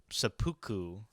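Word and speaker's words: seppuku: it is called i'm probably gonna butcher the pronunciation but supuku i think is what it's pronounced yeah yeah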